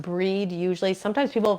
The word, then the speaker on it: Brigid: breed yes it's pronounced breed usually sometimes people pronounce it Bridget or they call her St Bridget um but many people will pronounce it breed like B re D yeah um Jenny said